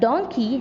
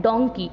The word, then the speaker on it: donkey: उसको हम पढ़ते हैं मंकी और इसको हम पढ़ते हैं डोंकी, इसको डंकी नहीं पढ़ा जाता है। काफ़ी सारे स्टूडेंट्स ऐसे होते हैं जो DONKEY को डंकी पढ़ते हैं, इसका करेक्ट प्रोनाउंसिएशन होता है डोंकी।